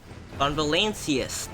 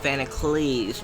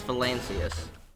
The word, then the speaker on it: Valancius: Von Valancius, not Vanacles, because how the hell did I get Van? Cleese. There's not even an L. No, it's Valancius.